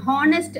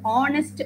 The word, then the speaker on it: honest: HONEST அப்படிங்கிற வேர்டை வந்து நம்ம ஹானஸ்ட் அப்படின்னு ப்ரொனவுன்ஸ் பண்ணக்கூடாது, ஆனஸ்ட் அப்படின்னு தான் ப்ரொனவுன்ஸ் பண்ணணும். ஸோ ஆனஸ்ட் அப்படிங்கும்போது அந்த ஹெச் சைலண்ட் ஆகுறது.